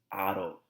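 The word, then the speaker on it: -ado: off the AR and replace it with a do pronounced as Otto okay so I bladder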